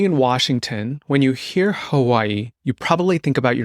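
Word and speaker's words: Hawaiʻi: think people should say Hawaii correctly too so let's just say it correctly again let's just repeat it the W is sometimes pronounced as a v but there's definitely what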